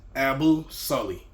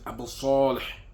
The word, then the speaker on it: Abu Saleh: Because my name is Abu Sully, right? But you pronounce it in Arabic is Abu Saleh, right? Abu Saleh.